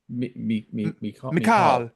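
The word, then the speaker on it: Michal: last name and so I know how to pronounce it. Um there were two or but the first name Mikall Mikall.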